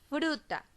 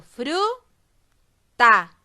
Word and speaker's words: fruta: Tengo fruta. La pronuncio para ver cuál sílaba tiene mayor fuerza de voz. Fruta. La sílaba que yo pronuncio con la mayor fuerza de voz es la sílaba fru.